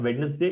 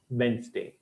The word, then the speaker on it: Wednesday: the word this one is not wedness day it's Wednesday this is the last word